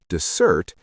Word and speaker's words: dessert: But when the stress moves to the second syllable, dessert, it refers to the sweet food you eat after a meal.